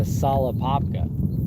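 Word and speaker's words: Tsala Apopka: it's another Lake dude like to solapopca unless the tea is silent but it's spelled t-s-a-l-a I don't really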